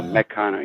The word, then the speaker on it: Meccano: Oh, Meccano. Yeah. Yeah, like mechanic.